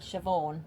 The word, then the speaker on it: Siobhan: What's the female name that's spelled really weird? Siobhan.